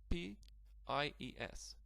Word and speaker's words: pies: As you can see, the letter I sounds like Polish J.